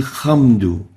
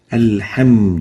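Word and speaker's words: الحمد: rain for example al-hamdu some people would pronounce the hair with a hat I will hum do or with a lion alum do and both around we should pull off the hat as a hat like this al-hamdu do hemudu and not hum do or hum do so avoid such a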